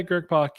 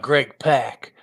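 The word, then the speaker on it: Greg Pak: just because you said you pronounced Greg pck correctly well yeah I've always done that not Greg pack oh and this one's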